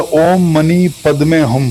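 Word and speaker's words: ॐ मणि पद्मे हूँ: इसका उच्चारण कुछ ऐसा होता है, ओम मणि पद्मे हम, जो कि करुणा दया मन की शुद्धता का प्रतीक माना जाता है।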